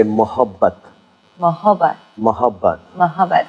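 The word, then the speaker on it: मोहब्बत: And if you feel being a little more generous and a little more gentle, then you say mohabbat.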